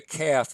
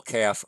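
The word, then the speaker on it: כ: doggish or not so a calf with a doggish is a K sound as in keep a calf without a doggish some grammars would say that it has a a KH or almost a CH sound kind of like cats so they would pronounce that with a huff sound other grammars just say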